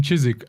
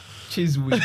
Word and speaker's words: Chiswick: Because there's somebody I told him, I said, I was in Chiswick, and he started laughing, and he goes, yeah,